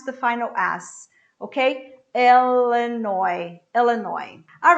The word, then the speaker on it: Illinois: and and the last one illinois el nino illinois i don't pronounce the final ass okay elenoy illinois all right so these are the words and